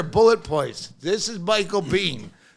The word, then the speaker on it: Biehn: I really love Michael Biehn Awareness Day. Like, it's pronounced Bean. Just here, bullet points. This is Michael Biehn. It's just pronounced Bean like Mr. Bean.